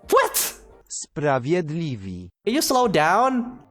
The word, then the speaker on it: Sprawiedliwi: Okay, how do I pronounce that? Sprawiedliwi. What? Sprawiedliwi.